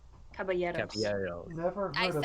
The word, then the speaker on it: Caballeros: have I'm going to butcher both of these pronunciations. I apologize. Saludos amigos. Yeah, Saludos Amigos and the Three Calaveros. Caballeros.